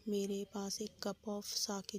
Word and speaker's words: sake: जो प्रोनाउंसिएशन है वो साके है, जो कि जैपनीज़ अल्कोहलिक ड्रिंक है। तो आपकी मर्ज़ी है, इसको आप साके या फाके प्रोनाउंस कर सकते हो, बट मैं यहाँ पे साके ही प्रोनाउंस करूँगी।